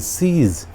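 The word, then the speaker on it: siege: और next English word is सीज। सीज में भी आई और ई दोनों मिलकर बड़ी ई का उच्चारण दे रहे हैं, सीज।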